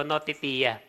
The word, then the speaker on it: notitia: Sa English vocabulary, pag binasa mo yan, notitia. Okay? Pag Greek vocabulary kasi per syllable sila. So, notitia. It has to do simply with the content of faith.